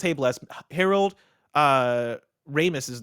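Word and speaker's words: Harold Ramis: Ramus's name is pronounced Ramus, not Ramus.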